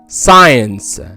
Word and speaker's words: science: تاني حالة ما بنطقش فيها حرف السي لما بيجي قبله حرف الاس وبعده حرف الآ like scissor scene science fascinating scientific.